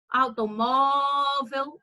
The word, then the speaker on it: automóvel: Olha o automóvel. Perceba que o mó você falou com mais intensidade, você falou com você falou mais forte. Então, ele deu mais destaque na palavra. Automóvel, o mó, ele se destacou mais.